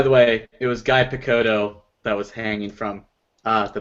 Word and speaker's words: Picciotto: it either it's okay it's like piccolo but not anyway I just couldn't